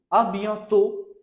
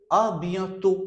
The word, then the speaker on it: à bientôt: À bientôt. À bientôt. Last T will not be pronounced.